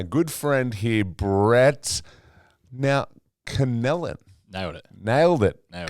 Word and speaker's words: Connellan: Now, Conellan.